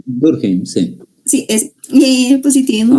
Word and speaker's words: Durkheim: El empirismo, Emily Durkheim, no sé cómo se pronuncia. Durkheim, sí.